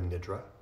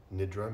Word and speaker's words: nidra: Many of you have heard the term yoga nidra. So nidra means sleep, roughly speaking. Some people say nidra. I've heard many Sanskrit scholars pronounce it nidra, but I'm sure you can say it either way. It's acceptable.